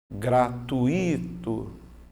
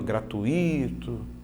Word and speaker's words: gratuito: Por exemplo, no dia a dia, como que as pessoas costumam fazer? Gratuito. Esse I, ó, gratuito. Tá vendo? Você faria isso se houvesse um acento aqui, ó, que aí eu teria a tal da regra dos hiatos.